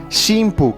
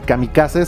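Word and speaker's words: 神風: Y precisamente por eso Inoguchi utilizó la pronunciación shimpu, que sería algo así como los vientos divinos, es decir, el grupo de viento divino. De otra manera, si le ponían camicase, sonaría algo así como los milagritos.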